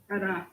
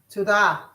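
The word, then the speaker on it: תודה: Tada. Tudah.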